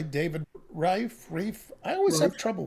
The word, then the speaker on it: Reif: In this podcast, my guest and I, David Reif, I always have Reif. trouble with your name, Dave. Reif. We'll And be now the it's right. It's Reif. It's a Reif. long I. Rhymes with strife.